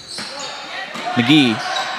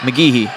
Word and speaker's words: McGehee: come in for blackman mcgee mcgehee i think is how we've been told to pronounce it walker young forces to